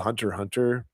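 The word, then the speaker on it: Hunter × Hunter: It's called Hunter Hunter. It looks like it should be called Hunter X Hunter, but the X isn't pronounced when you say the title.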